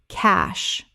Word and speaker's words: cache: Cache. 1 syllable only. It rhymes with cash. The E is completely silent.